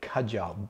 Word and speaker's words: Kajal: He discovered very quickly that a lot of people were struggling to pronounce the kh sound in Kajal, so he dropped that H and now made it Kajal.